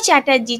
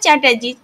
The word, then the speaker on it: চ্যাটার্জি: গাঙ্গুলি দীর্ঘকার হবে না, ও চ্যাটার্জি, চ্যাটার্জিও দীর্ঘকার হবে না। অর্থাৎ গাঙ্গুলি, গাঙ্গুলি শব্দটা দেখুন দীর্ঘকার হচ্ছে না, আবার চ্যাটার্জি খুব সহজে চ্যাটার্জি, চ্যাটার্জি